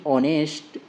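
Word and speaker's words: honest: उसके बाद रीजन में दिया है the letter H इन ऑनेस्ट। इसमें जो लेटर एच है उसमें ऑनेस्ट is silent and the world begins with a vowel sound. तो जो है यह अ साउंड से प्रोनाउंसिएशन हो रहा है। और जो यहां पे ऑनेस्ट में जो फर्स्ट लेटर जो एच दिया है ये क्या है? साइलेंट है।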